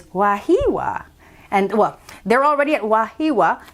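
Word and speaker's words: Wahiawā: Because it looks like Wahiawa, but I looked it up, and the pronunciation is Wahiwa.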